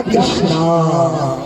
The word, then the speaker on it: कृष्ण: का आवाज नहीं आती कृष्णा नहीं है कृष्णा कहोगे तो द्रोपदी का नाम आ जाएगा हरे कृष्ण हरे राम